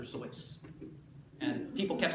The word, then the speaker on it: Seuss: Seuss it was originally supposed to be pronounced dr. sois and people kept saying sues he kept trying to